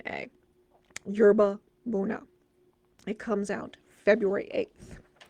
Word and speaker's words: yerba buena: a job arranging flowers at the glamorous restaurant yerba buna and embarks on an affair with the married